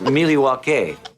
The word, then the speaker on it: Milwaukee: have to trust me I thought it was milwa yes that is how it's actually it's pronounced milwa speaking just had that oh you got to